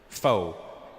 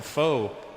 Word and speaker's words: pho: It's spelled P-H-O, pho, but it's not the way it's pronounced. And in America, people are fucking annoying because I'll be like, yeah, let's go get some pho. And they'll be like, you know, Russell, it's actually pronounced pho.